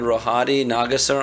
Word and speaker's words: Rohadi Nagassar: all I'm so excited to have my friend rohadi nagasar on my show my on our show am